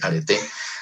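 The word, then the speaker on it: areté: La palabra arete, como se escribe arete, pero con acento en la E, arete, ¿sí?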